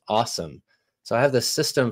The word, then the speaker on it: OSOM: And that's an acronym, OSOM, O-S-O-M, pronounced awesome.